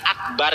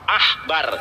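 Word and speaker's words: עכבר: Ini bacaannya bukan akbar ya teman-teman ya. Ini ain, dibacanya feha akbar, ahbar, dibacanya ahbar bukan akbar. Ingat, ini bahasa Ibrani dibacanya feha ahbar bukan akbar. Karena kalau dibaca akbar harus ada dages di sini.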